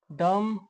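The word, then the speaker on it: dumb: तो जब एम के बाद बी आए आया हो तो बी साइलेंट होता है। जैसे कोम डम थम बम इसमें एम के बाद बी आया है तो बी साइलेंट रहेगा।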